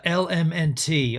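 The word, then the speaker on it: LMNT: what I meant uh L MNT I spelled it wrong it's spelled l m NT so it's all abbreviated element the best electrolyte this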